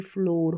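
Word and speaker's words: floor: फिर देखिए OOR, इसको ओर करके पढ़ना है, तो ये फ्लोर हो गया, ठीक है, फ्लोर।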